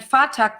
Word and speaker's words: Phatak: And Fatak, this one is spelled Phatak.